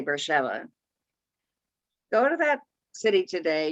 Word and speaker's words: Beersheba: of beersheva today now we would read it beersheba but one of the things you learn very quickly when you go to israel for the first time is nothing is pronounced the way you would pronounce it so they would say bersheba go to that city